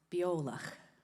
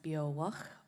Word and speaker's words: Beòlach: So, if you're not familiar with us, it's um where we're from, it's Biola. So if you can get that in your head and some other people pronounce it bow and it means uh